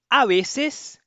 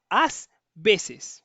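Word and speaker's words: a veces: A vezes, ó, pelo amor de Deus, não coloque o esse aqui. Não é às vezes, não, é a vezes, a vezes, tá?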